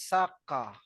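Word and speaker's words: サッカー: Pag imuhan na i-pronounce sa Japanese saka. Saka. saka. Saka. Wala ng R.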